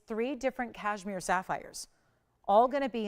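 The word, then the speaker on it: Kashmir: these Stones hail from this is actually called cashmere it's spelled with a K it's k-a-s-h-m-i-r and that's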